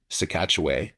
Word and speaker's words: Sah-Katche-Way: And um it was by I think a chief um Sekatchway is how they pronounce his name.